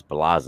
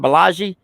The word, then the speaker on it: Baz: your name he's like it's baz I said so it's not BAGI he's like no he started laughing I